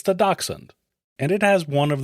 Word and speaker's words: dachshund: Now, if you want to sound like you know German, which I do not, it's pronounced closer to dachshund. Most Americans say dachshund or just skip the